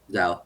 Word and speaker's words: Zhou: Yongkang Zhou, right? Zhao.